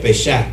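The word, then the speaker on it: פסח: les estuve enseñando que en hebreo la Pascua se pronuncia pesac verdad el pesac no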